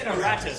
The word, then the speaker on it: Eratus: The Eridus are pulling back. Is that how you say it? This has been the biggest mystery. It's for me. It's Eratus.